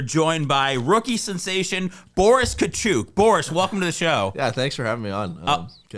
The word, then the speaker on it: Katchouk: I mean, it just happens, but it's Katchouk for full pronunciation. That's right. Let everybody at home Katchouk, like he's not a Katchouk, okay?